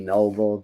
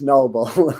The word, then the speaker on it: Nobel: I think it's actually Noble, but it's spelled like Nobel. All right, anyway, I feel like they're saying Nobel's French. It's Noble.